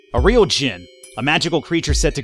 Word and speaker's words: djinn: I think the D is silent in this one. A real djinn.